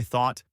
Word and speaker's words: thought: A big one is pronouncing the GH in though or thought like an F sound.